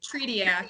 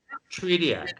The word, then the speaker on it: Tretiak: Is it Tretiak? Tretiak. Yep. Tretiak.